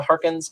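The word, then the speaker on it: Harkness: I would lean towards her being maybe Agatha Harkins. I think we'll see whether, or Hawkins, I think is how you say it.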